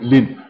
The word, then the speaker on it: ln: Normally, we just pronounce it as lin.